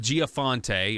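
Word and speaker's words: Gianforte: So last week, it was Montana, Greg Giaforte, or how do you say this guy's name?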